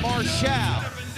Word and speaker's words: Marshall: QT Mar that's right his name is QT Marshal might be spelled Marshall make sure you get the accent on the right salable and oh boy a